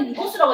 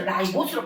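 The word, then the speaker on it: ribose: Li인데 li라고 읽었는데 리보스 이렇게 읽으면 되는데 옛날에 리보스라고 했거든. 뭐 교육까지가 바뀌면서 라이보스로 바뀌었어요. 그래서 제가 영어를 못 해서 헷갈리지만 라이보스로 바뀌었으니까 바뀐 걸로 해요.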